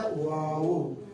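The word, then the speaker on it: واو: और याद रखिएगा, जैसे कि हमने कहा कि 28 हुरूफों में से फकत एक हर्फ ऐसा है कि जिसके लिए होंठों की गुलाई होती है, वो है वाव।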